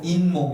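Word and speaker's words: 잇몸: 'i-mom' 이 아니라 'in-mom' 이 되는 거 예요 .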